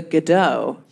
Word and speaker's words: Godot: don't know waiting for godot or as the americans say waiting for godot why do they say that though why is that how it's said in french what do you say